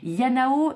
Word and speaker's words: IaNaO: comme je vous l'expliquais son nom il y a comme intelligence artificielle n'a comme la deuxième syllabe de mon prénom Anna et eau comme la première lettre du mot Oracle yanao c'est vraiment le projet